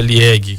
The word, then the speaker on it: Liège: Acho que é Liège, que é a pronúncia da cidade do Devenir.